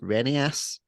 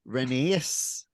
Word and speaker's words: Renaissance: dropped well and yeah you kept calling Renaissance renius and every time you say that Allison just